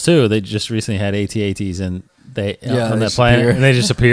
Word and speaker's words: AT-AT: so is it is is there a proper way to say call it um or is it improper to call it an add at yeah he said well because we're fans of Star Wars I wouldn't tell you that it's wrong to say add at but the proper way to say it is AT-AT of course yeah I